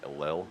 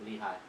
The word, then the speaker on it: Lehi: In I don't know how do you say Lel? Lehigh.